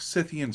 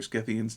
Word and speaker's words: Scythians: had heard about like scythians or scithians depending on how you want to pronounce it um and of course